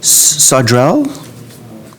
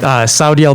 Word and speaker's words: Saudiel: And I might not have pronounced your name properly, so please share your appropriate pronunciation. That's all right. Saudiel. Can you guys hear me all right? Yes. Perfect. So I'm Saudiel.